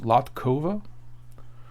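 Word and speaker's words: Latková: I guess that's pronounced Latkova.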